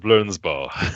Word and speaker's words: Blernsball: have to call it pretty sure it's pronounced blurs ball okay um so I'll